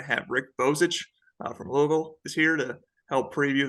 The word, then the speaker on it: Louisville: uh it's Louisville or Louisville how do you say it rick which way you know um people that live here call it Louisville and a lot of other people say Louisville I would go with Louisville